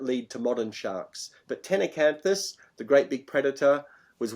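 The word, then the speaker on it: Ctenacanthus: So it's Tenacanthus, is it? That's the how it pronounced. Tenacanthus. CT Tenacanthus.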